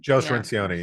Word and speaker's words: Cirincione: That guy Circione, is that how you pronounce his name? Joe Cirincione, yeah.